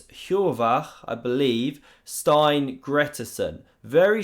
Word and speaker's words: Hjorvar: It's Hjorvar, I believe, Steinn Gretarsson. Very strong player. This is how you should technically pronounce it, by the way. Hjorvar.